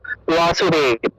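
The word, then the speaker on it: বাসুদেব: তারপর দেখো এই যে বাসু, বাসু শব্দটা ওয়াসু, ওয়াসুদেব, ওয়াসুদেব, তারপর সর্বে, এটা উচ্চারণটা হবে সর্বে, সর্বে হে, সর্বে এরকম উচ্চারণটা আসবে।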